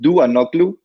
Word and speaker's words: Ntouanoglou: It's pronounced Ntouanoglou. We don't have a D, so we use N and T combined to pronounce D in a similar way that T and H is pronounced as a delta.